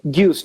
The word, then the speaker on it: Gueuze: Eh, digamos, vos tenés, normalmente vos tenés Lagose, se dice Lagose. Gueuze, no, Gueuze, Ah, es Dios.